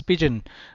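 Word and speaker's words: pidgin: to improve carne I this is pigeon not begin this is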